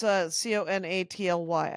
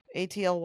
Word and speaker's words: Conaty: Is it Conaught? No. Okay. It's Conaty, I believe.